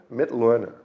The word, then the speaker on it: Mitloehner: Yeah, my name is Frank Mit Luner. The question I get all the time is how do you pronounce that last name? It's a good question. It's like to learn Mitt Learner.